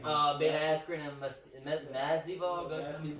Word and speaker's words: Masvidal: It's more fun when you pronounce the name. Jorge Masvidal. No, Masvidal.